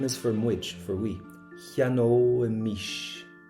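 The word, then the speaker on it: cheannóimis: Cheanóimish. Cheanóimish. So we get that O imish sound in it, and we covered the pronunciation on it last week.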